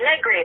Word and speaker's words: Negri: And you got the name right, Negri. It's so hard my whole life because that's a tough one and people are worried about saying it incorrectly. And Negri, it rhymes with nothing.